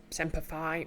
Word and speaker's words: Semper Fi: No, let's Semper Fi rhymes with apple pie.